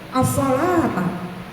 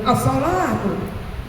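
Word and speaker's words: الصلاةَ: As-salata, as-salata, jaga sholat. Ya, jangan as-salatu, as-salatu. Wasiat Nabi akhir hayatnya as-salatu, as-salatu, salah bacanya. Salah apanya bu? Bacanya kalau ustazah. Ini bacanya as-salata, as-salat.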